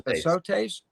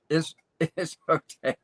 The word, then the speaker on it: Islotes: And Panama also, I can't even pronounce Grand it. Los Azotes. Islotes. Yep. What? Islotes. Islotes.